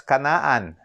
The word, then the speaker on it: Canaan: They call it Israel, or in ancient times, they call it Canaan, spelled as Canaan, but they pronounce it as Canaan.